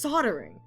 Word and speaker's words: soldering: I think this is now where I realize that it's it's spelled soldering, but it but it's like but it's pronounced soldering.